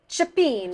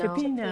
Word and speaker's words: cioppino: How do you pronounce it? Cioppino. Cioppino.